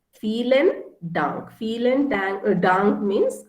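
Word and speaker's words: vielen Dank: say uh feeling dunk so v p is foul right for feelin dunk feelin dang a dunk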